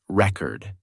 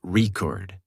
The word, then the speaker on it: record: For example, the word record changes pronunciation based on whether it's used as a noun or a verb. As a noun, the thing, it's pronounced record.